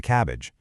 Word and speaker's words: CABG: They get admitted for an open coronary artery bypass graft, which you'll usually hear pronounced as a cabbage, specifically on the left anterior descending artery.